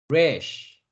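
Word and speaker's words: ריש: 그 다음 글자는 사람의 머리라는 의미를 가지고 있는 rash, rash, rash라고 읽습니다.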